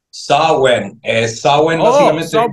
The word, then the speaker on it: Samhain: John, para culminar, la cita es este sábado, NWA, ¿cómo se pronuncia? Samhain.